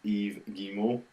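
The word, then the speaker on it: Yves Guillemot: at ubis Montreal and his name is pronounced Eve gimo that's a Eve gimo without an S for a payback I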